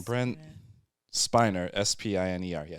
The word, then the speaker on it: Spiner: Brent Spiner, Spiner. Yeah, Spiner.